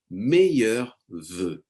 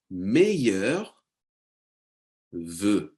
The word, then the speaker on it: meilleurs vœux: So this one is challenging to pronounce. Let me say it one more time with you. Meilleurs vœux. Okay, it's spelled in a very complicated way, but just to have a E sound.